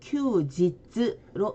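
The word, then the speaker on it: 休日: 자, 일시 그리고 휴일 있는데 일본어로는 일시는 니치지 그리고 휴일은 큐지츠로 읽어줍니다.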